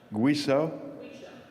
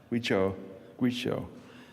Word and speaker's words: Guizhou: Guizhou? Guizhou.